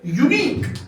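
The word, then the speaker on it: unique: यूनिक क्या लिखा मैंने यूनिक लेकिन जब आप इसको प्रोनाउंस करेंगे ये यू की आवाज नहीं देता है बल्कि वाई की आवाज देता है बच्चों तो इसलिए मेरे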